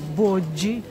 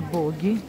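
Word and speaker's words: Boggi: здесь на улице находится боджи правильно читается Не боги тоже это производство Милана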